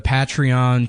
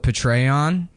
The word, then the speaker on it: Patreon: money off of Yeah, we've got the the Patreon p I said I used to call it Petrayon like General Petray. Suck it and That's how I thought you pronounced it and then somebody laughed at me